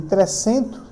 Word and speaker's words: Trecento: Eu falei que durante, né, um período denominado de Trecento, né, assim mesmo se pronuncia, né, porque é um termo italiano, e no período posterior,